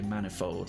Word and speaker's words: manifold: you dear a penny that you say manifold like many which is wrong say rapier Pierre tire